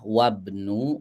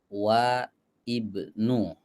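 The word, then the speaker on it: وابن: tadi bacaannya udah betul bacanya wabnu bukan wa Ibnu Ya udah betul ya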